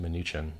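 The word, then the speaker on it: Mnuchin: through his minion munchkin whose name I believe is accurately pronounced minuchin who's in the Panama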